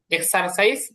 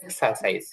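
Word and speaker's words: exercise: আচ্ছা, এখানে আপনি দেখেন এক্সারসাইজও বলতে পারবেন, আবার এক্সারসাইজও বলতে পারবেন, মানে আরটা উচ্চারণে আনতে পারবেন, এটা আমেরিকান উচ্চারণ। আর আরটা যদি উচ্চারণে না আনেন তাহলে হচ্ছে এটা ব্রিটিশ উচ্চারণ।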